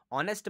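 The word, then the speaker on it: honest: एन क्यों लिख दिया क्योंकि एच जो है यहां पे आपका साइलेंट है ठीक है इसलिए ऑनेस्ट ऑनेस्ट आवाज निकाल के देख लीजिए ना ऑनेस्ट किसकी आवाज निकल रही है ओ की आवाज निकली है एंड ओ इज अ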